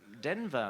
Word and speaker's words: Denver: decir soy de Denver Denver se pronuncia denva un poco mejor pero podemos decir Denver y no era verosímil